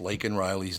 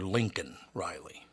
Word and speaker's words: Laken Riley: Joe Biden mispronounced Laken Riley's name. He called her Lincoln Riley, which I can get over that, right?